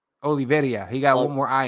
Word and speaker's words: Oliveira: Give me the real pronunciation, because I just say Oliveira. Oliveira.